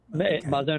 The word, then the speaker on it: Mazon: and did I pronounce is it Mason or Maison or so you pronounced my name correctly the name of the organization is actually Mazon is a Hebrew word